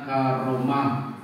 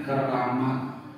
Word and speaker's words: karamah: karunia rahmat dan nikmat Karamat bacanya karamah wong jawo ngendikane keramat keramat jadi kata karamah jadi